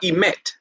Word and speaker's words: emet: Now that I'm out of religion, and personally, I'm into the truth, the emet. That's how you say it in Hebrew, the emet of Torah, law.